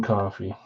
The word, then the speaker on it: Coffey: That's weird, but it's spelled like the drink, but different. Coffee, John Coffey.